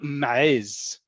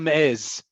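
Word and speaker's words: מעז: Echata ma'ez. And I like pronouncing the ayin strong there, but you can simply say, echata ma'ez.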